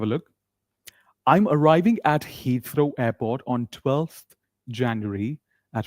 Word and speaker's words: Heathrow: How do we pronounce this? Heathrow. One more time, repeat after me. Heathrow.